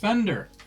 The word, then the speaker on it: Fender: How you pronounce it? Fender. Fender. Yeah. As in I think damage. there's already a robot. Huh? As in Bender.